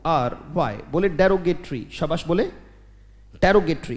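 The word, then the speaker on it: derogatory: बोलो शाबाश, पहले उच्चारण जरूरी है, बोले डेरो, वेरी गुड, बोले डेरोगेटरी, शाबाश, बहुत अच्छे, डेरो जी ए टी ओ आर वाई, बोले डेरोगेटरी, शाबाश, बोले डेरोगेटरी का मतलब बेटा अपमानजनक।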